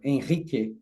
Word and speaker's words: Henrique: Like Giacomo said, my name is Henrique, or Henrique, or Henrique, like they pronounce in Portuguese.